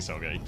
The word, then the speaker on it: Soggy: Is Soggy actually pronounced Soggy, or are you guys trolling? Yes. It is Yeah, no, Soggy, it yeah. is. Yeah, it is actually Soggy.